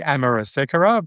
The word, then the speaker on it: Amerasekera: I would say Amar Secura, but my ancestors might say it differently, but I'm happy either way.